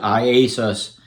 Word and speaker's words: IASUS: and yet is iasis and that's how you pronounce it iasus and I got there the correct pronunciation I